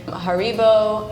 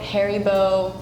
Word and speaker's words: Haribo: Germany we say so in America depending on the region I've heard Haribo Haribo and Haribo wow but yeah it kind of depends on where you're from in China we see in Japan we say Haribo in Spain I heard adibo or Haribo the unique one like